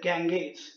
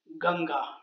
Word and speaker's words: Ganga: the holy river ganga which is known to many outside of india as the ganges but the correct pronunciation is ganga the name comes from